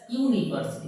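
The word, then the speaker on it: university: question it is dash ইউনিভার্সিটি তাহলে Yuta কি আমার ভয়েল এন বসা দরকার কিন্তু উচ্চারণ হচ্ছে কিসের মত ইউর মত তাহলে কি হবে ট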